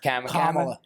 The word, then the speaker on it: Kamala: just came and endorsed camela Harris now they're saying they're seeing it influx I think you're pronouncing that wrong oh Kam comma like a comma I pronounce it like